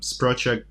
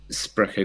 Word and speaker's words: Sprecher: So was that correct me if I'm wrong with pronunciation, but Sprocher Greer, was that the name of the firm? Sprecher Greer, yeah, that's right.